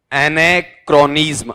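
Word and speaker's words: anachronism: ए एन एन ए ए सी एच आर ओ एन आई एस एन अब इसका उच्चारण बताओ देखें नहीं जी एने क्रोनिज्म अब पढ़ो क्या है टुकड़े में जैसे पांचवी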